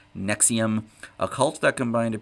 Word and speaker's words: NXIVM: metal historian is the story of nxivm pronounced nexium a cult that combined